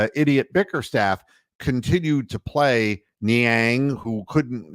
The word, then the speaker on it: Niang: Bickerstaff continued to play Niang, who couldn't, whose name rhymes with Clang for a reason.